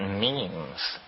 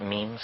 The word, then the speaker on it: meme: last year about about means you know what means our means are the smallest units of a concept and they're like genes the word is deliberately constructed to rip to rhyme with gene and so when I